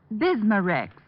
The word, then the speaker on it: Bismarex: stomach membranes well I'll have to remember that bismarex is that how you say it that's right